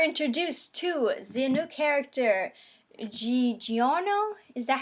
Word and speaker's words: Giorno: We're introduced to the new character, Giorno? Is that how you pronounce it? Giorno? Because it's spelled like Giorno. But it's also, you gotta put that accent on it because it's Italian.